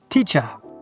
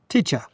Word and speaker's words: teacher: Teacher. Teacher. Did you hear that there is a schwa? Cha. Teacher. And in my accent, from London, we don't pronounce the R on the end of words.